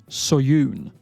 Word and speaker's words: Seo-yoon: You do not pronounce the E in this particular name, because this is a Korean name. And it's actually pronounced Seo-yoon.